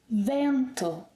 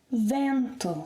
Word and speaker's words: vento: Vento. Vento. So again, the stress is on the second syllable to the last, meaning that the final O is, you said unstressed?